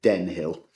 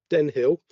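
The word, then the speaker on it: Denne Hill: Just for anybody who will want that clarified later, it's Den Hill. I beg your pardon. I've come into trouble on a number of occasions with local pronunciation, so Den Hill.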